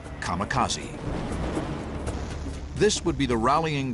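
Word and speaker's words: kamikaze: called it divine wind which in Japanese is pronounced kamakazi this would be the rallying Cry of Japanese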